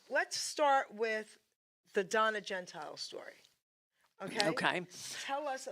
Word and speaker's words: Gentile: So that is the way the Italian Americans would say it, Gentili. Okay. But in my own podcasts and things, I say Gentile as well, because I think people may spell it wrong, like Gentilly, Yeah, yeah, yeah. or something like that.